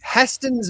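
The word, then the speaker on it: Hästens: a Swedish company so the a has two dots above it how do you pronounce that h h h yeah I said probably H like sa well same thing as Saab so yeah um host's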